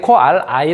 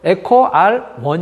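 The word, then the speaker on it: EcoRI: 할까 하는 얘기는 뭐냐면 여기에 제가 이제 그 일대의 코 ri 라고 읽었는데 저게 i 로 쓰여져 있긴 하지만 저게 어 그러니까 그리스 문자의 요인이 까 아이가 아니라 사실은 일이라는 거에요 일요일 가 빼내서 이렇게 숭 거죠 그래서 에코 r1 인거죠 원 제가 지난번에 ri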